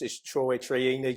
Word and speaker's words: Troiani: Everyone gets your last name wrong. Everyone, yeah, it's Troiani, Troiani's bang.